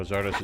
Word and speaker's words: Xardas: How Zardos is pronounced in the Polish version. Interesting. I did not know that. I know some people would probably try and call him Xardas.